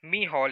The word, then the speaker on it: Micheál: Micheál Martin. This word is pronounced as Micheál in Irish pronunciation. So the note here is Micheál Martin has been elected